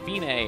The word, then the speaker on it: Fine: half rest it looks like fine but it's pronounced Binay and it means is the end the finish